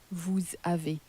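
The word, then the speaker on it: vous avez: in France is as Avi Avi so that s has more or less been crashed into the word that follows into the vowel and then it sounds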